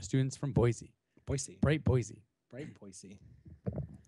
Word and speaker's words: Boise: from Boise Boise bright Boise bright Boise I think we got grilled on on that pronunciation Boise I think it's boisey even if it is I'm going Boise I'm with Boise Boise Boise Boise out